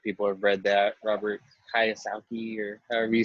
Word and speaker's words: Kiyosaki: Robert Kiyosaki, or however you say his name. Yeah. So Kiyosaki?